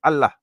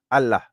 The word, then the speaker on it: Allah: are from the subcontinent they pronounce it as Allah okay Allah okay um the Arabic is actually over all right it's actually pronounced that's the correct pronunciation but there's nothing wrong